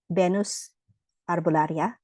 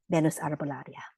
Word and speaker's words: Venus Arbolaria: It's called Venus Arbolaria, which is Venus is the way that we pronounce Venus, like Venus, the goddess of love, Roman goddess of love.